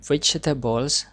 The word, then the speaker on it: vegetable: The word vegetables, please read after me. Vegetable. Vegetable. So the stress sound is on jet.